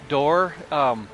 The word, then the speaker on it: Dorr: Pete Dorr. His first name is Pete, P-E-T-E. His last name is Dorr, but it's spelled D-O-R-R instead of D-O-O-R, like a door, a doorway. It's D-O-R-R.